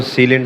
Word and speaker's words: Celin: ऊपर देख रहे हैं इसको उर्फ में सलीन बोला जाता है जो कि गलत प्रोनाउंसिएशन है ये है सीलिन ये जो सीलिन 500